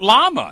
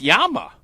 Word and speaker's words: llama: It's not llama, it's yama.